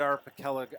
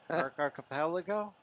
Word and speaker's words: archipelago: Japanese there I know and I think you mispronounced it too did I I'm sure I did my apologies to the island our patella Arctic Archipelago archipelago thank you oh man my wife constantly